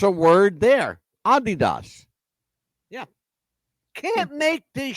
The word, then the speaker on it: Adidas: By the way, we're all saying it wrong. It's not Adidas. Hmm. You know how it's actually pronounced? How? Adidas. Are you kidding me? No, I'm not kidding you. Oh my gosh, we've been saying it wrong forever. Everybody says it wrong. It's not Adidas. It's Adidas.